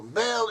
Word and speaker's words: Baal: Bel is how the Assyrians and the Babylonians pronounce the name Baal. Bel is another name, another form of the name Baal.